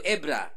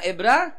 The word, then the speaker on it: Ebra: Sekarang Hebron, dulu Ebra. Bacanya gimana? Ebra, yang cepat, Ebra. Nah, nggak boleh pisah. Nggak boleh pisah. Bra. Bra siapa tuh? Gitu dong ya. Ebra, nyambung Ebra ya.